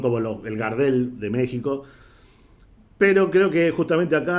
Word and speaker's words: México: arena si estás mirando nos enseñó a pronunciar méxico algún día te abandona esta decencia no es una foto es una x es méxico pero bien entonces para